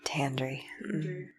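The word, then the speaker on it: Tandri: goodness for tandry is tantry is how you say her name I think so but I'm not the one who listened to the audiobook this time that is how you say her name tandry oh tandry totally while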